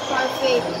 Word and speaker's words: parfait: Parfait. How do you spell that word? P-A-R-F-A-I-T. Parfait? And silent A.